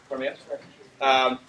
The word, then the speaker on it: Kuromiya: How do I pronounce his last name? Kuromiya.